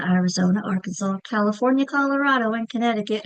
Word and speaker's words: Arizona: Which syllable is getting the accent? Arizona. It's Zo that I'm stretching out, right? That's the accented syllable.